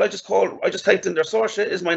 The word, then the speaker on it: Saoirse: So we're typing a word that phonetically sounds like Saoirse. So I'm going to type in maybe S-H-O-R-S-A.